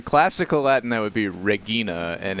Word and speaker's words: Regina: would be Regina and in church Latin it would be Regina you guys still watching and in like European countries that use romance languages where Regina is still a name that people have they say it Regina I don't see the